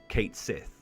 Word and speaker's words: Cait Sith: tweeted out saying that this character is actually pronounced Kate Sith and that's when gelic Irish and Scottish Twitter